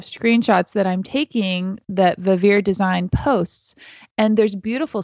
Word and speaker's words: Vivir: I think it's pronounced Vivir Design. It's VIVIR Design. And I love the style.